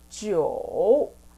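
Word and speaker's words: 九: sound is number nine number nine is jo jo like joe okay but prolong sound then number 10 is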